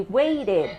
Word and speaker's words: waited: worked watched correct but this one we say waited because it already answered the T sound so if the verb